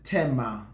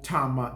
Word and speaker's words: Tamar: Her name is Tamar or Tamar, depending how you want to pronounce her name.